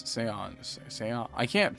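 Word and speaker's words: Xion: It's not Xian, it's Seon.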